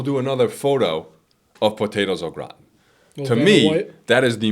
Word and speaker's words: au gratin: Do you like potatoes au gratin? We just call them cheesy potatoes. Cheesy potato. Okay, fair enough. Oh my god. Yep. The formal, because they're French, is potatoes au gratin.